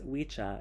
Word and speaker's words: Wicca: as I stated before Wicca properly pronounced as wicha is an Old English word for a male witch I also forgot to